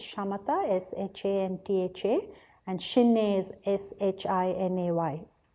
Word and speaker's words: Shamatha: It's Shamatha, S-H-A-M-T-H-A, and Shinne is S-H-I-N-A-Y. In Tibetan, the word Shinne, the first syllable shi means peace or to pacify, and